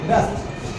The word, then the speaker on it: wrist: दे रहा हूँ, WRIST, रेस्ट। लो, रेस्ट पास होता है ना, लफ्ज कलाई वाली घड़ी, ये मेरे पास है रेस्ट का, ठीक है, कलाई। इसमें W जो है वो साइलेंट है।